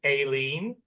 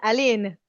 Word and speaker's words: Aline: Aline? Hey, did I say it right? Yes or no, please? That's the Australian way, but in French it's Aline.